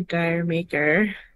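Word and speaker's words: D'yer Mak'er: a big lead Zeppelin head how do you pronounce the name of that song I say dire maker but who knows yeah that was very I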